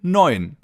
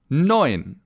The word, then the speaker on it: neun: It's the number 9, or in German, neun. Neun. The EU in the middle of the word is pronounced oi, as in oyster, for example.